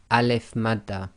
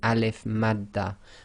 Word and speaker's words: alif madda: This will be pronounced as normal, 2 lengths long, just like any fatha alif long vowel.